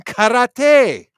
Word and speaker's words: karate: Using karate. It's pronounced karate for you ignorant fucks.